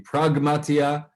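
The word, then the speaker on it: πραγματεία: of the same word the original greek is going to have the gamma so it's going to be pragmatia businesswear and this is not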